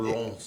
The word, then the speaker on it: Lens: Racing Club Lons. Yes, As yes. an official fan of Lons, And I need that's, to pronounce the name properly.